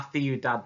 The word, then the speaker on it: ciudad: Okay, let's have a look at La Ciudad then. Obviously the pronunciation is slightly different for this one. With El Campo we said k, but with Ciudad it's a th sound.